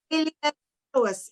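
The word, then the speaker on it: iliopsoas: It looks like it's LLIOPSOAS. LLOPISAS. No, SOAS. Iliosoas. It's iliosoas.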